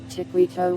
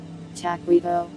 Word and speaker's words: taquito: Tiquito, why do I say it like that? It's my destiny. I see. Taquito. Oh, it has an ah. Oh wow, you're right. I always said it with an E sound.